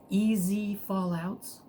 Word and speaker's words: EZEfallout: fallouts or eze fallouts your choice on how you want to pronounce it according to him it's like hey whatever uh whatever works for you so i go with easy uh his channel is